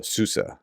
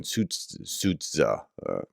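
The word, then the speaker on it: Sudzha: and were like, hey, I know you're trying to pronounce things like the ZH, say it as a S. So Susa rather than Sutza, right?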